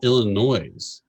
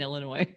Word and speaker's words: Illinois: top ten so danville illinois made the list at number seven st louis was six you're so texan you don't say the s in illinois no i do just